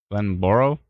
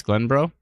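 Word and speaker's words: Glenboro: bro what'd I say Glenn borrow I mean it's spelled Glenn Boro but it's Glenn bro Chris Shana okay Christiana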